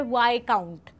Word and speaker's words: Viscount: देखिए ब्रिजटन इसका सरनेम है और वाइकाउंट, देखिए सबसे पहले इसका जो प्रोनाउंसिएशन है उसके अंदर एस साइलेंट होता है, इसे हम प्रोनाउंस करते हैं वाई, और ये है काउंट तो इसे कहा जाता है वाई काउंट।